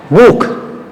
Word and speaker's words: Buch: Buch, before ch U, Buch.